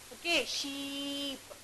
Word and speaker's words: sheep: Okay, whenever you listen E sound, you have to prolong it.